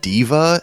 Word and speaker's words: Daiva: He worked on Daiva, which is like or it's spelled Daiva, but it's like in Japanese, like phonetically it's Diva, so I'm not exactly